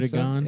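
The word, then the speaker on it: Erdoğan: Erdogan. Yeah, that's his name. That's how you pronounce it.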